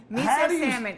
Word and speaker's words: salmon: time for the recipe salmon it's miso what salmon are you sure it's not salmon okay salmon salmon is the is the l is it a soft l you cannot pronounce the l is it a silent